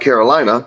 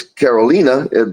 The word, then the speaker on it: Carolina: Spelled like Carolina, but in San Juan and in Spanish, it's Carolina.